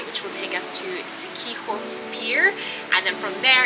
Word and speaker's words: Siquijor: If I was pronouncing it the way it's spelled, it would be Siquijor, but apparently it's pronounced Siquijor or Siquijor.